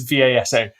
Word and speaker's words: Vasa: I've said it wrong. It is V-A-S-A, Vasa.